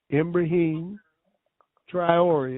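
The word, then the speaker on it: Ibrahim Traoré: His name is spelled I B R A H I M M like in man. Ibrahim. Triori.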